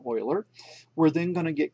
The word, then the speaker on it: Euler: it's built EUL er common mistake is to call them Euler angles but they are actually pronounced Euler angle after the man oiler we're then going to